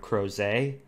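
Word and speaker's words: Crozet: don't know I only know that's how you pronounce it because there's a town in Virginia called crows a witch named after Claudius crows a who was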